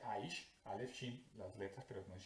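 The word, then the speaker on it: אֵשׁ: Esto se pronuncia Aish, Aleph Shin, las letras, pero se pronuncia Aish.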